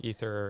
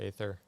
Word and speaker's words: Aether: You can pronounce it either way, Ether or Aether. Either one's fine.